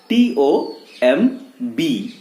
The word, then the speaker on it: tomb: TOMB, but pronounced as tomb. B जो है साथ तो है लेकिन चुप है, जिसको हम लोग बोलते हैं साइलेंट. तो यहां पे B जो है, वो अल्फाबेट जो है, वो है क्या? साइलेंट.